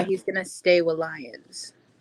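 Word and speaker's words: Lyon: Yeah, that he's gonna stay with Lions. Oh, is it with Leon? Leon Lions. You know what? I'm playing the American card, okay? Leon Lions. It's spelled Lions.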